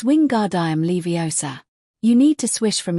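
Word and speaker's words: Wingardium Leviosa: Ron, you're saying it wrong, she snapped. and you're going to put someone's eye out like mine. It's wing guard leiosa.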